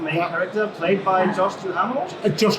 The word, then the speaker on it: Duhamel: character, played by Josh Duhamel. Josh Duhamel, yeah. Duhamel. Okay, yes. So that's how you pronounce it.